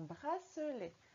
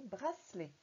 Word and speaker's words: bracelet: à parler vite et on dit bracelet. Comme s'il n'y avait que deux syllabes. Bracelet. Mais non, c'est pas comme ça. Il y a bien trois syllabes quand on écrit. Bras-ce-les. D'accord? Et on a bien la syllabe se en entier avec le C et le E ici au milieu du mot.